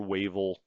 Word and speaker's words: Wavell: Wavell is like, let's go, or Wavel. I'm sorry, it's probably Wavel. That's how I would pronounce it if I was Archibald myself. I would not say Wavell.